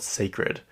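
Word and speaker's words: Cécred: And then I heard her talking or something, or I heard someone say it out loud, and it's just called Sacred, but it's spelled CECRED.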